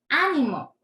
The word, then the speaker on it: ánimo: Dice, ánimo. Ánimo. Animó. ¿Pueden escuchar la diferencia? La diferencia está en la tilde.